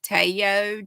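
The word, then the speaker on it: Taiyo: meters in this and it is called I pronounce it Tayo t-a-i-y-o sock yarn it is made of 50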